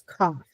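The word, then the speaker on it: כף: And as I mentioned, it's the shape of a C, but it sounds like a K. And that's cough.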